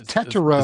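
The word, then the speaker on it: Tetairoa: It's Tetero.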